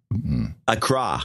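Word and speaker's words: Accra: one of our guys Acra it's not Acra by the way it's a CRA we've been pronouncing it wrong all these years oh I don't think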